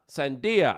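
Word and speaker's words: sandía: Sandia. That's how you say it in Spanish, sandia.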